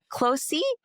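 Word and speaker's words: Qlosi: Um Closy is it starts with a Q. It's spelled with a Q, but it's called Clo.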